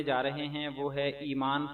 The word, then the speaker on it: ایمان: اور اعراب: ایمان فاطمہ، الف یا زیر ای میم الف ما نون ساکن ایمان، فا الف زبر فا